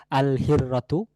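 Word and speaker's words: الهرة: যদি আমরা বলতে চাই বিড়ালটি একটি নির্দিষ্ট বিড়াল বোঝাতে চাই তাহলে সেক্ষেত্রে আমাদের বলতে হবে আল হিররাতু, আল হিররাতু এক বিড়ালটি, তাহলে এখানে লামটি উচ্চারণে আসছে।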